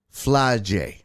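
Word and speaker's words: Flau'jae: a hard ass name f l a u j a e fly J fly J oh okay fly J fly Johnson um it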